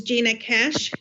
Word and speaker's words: Gina Cash: And again, we are just on the introductory statement, is Gina Cash. Did I pronounce that correctly? Yes, you did.